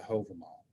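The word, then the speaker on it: Hávamál: curious miscellaneous what we now have is the hover mall now they spell it here h-o-v-a-m-o-l many places you'll see it's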